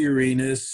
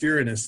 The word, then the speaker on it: Uranus: It's pronounced Uranus." And I always say, "Well, go watch Jeopardy sometime because Alex Trebek always calls it Uranus."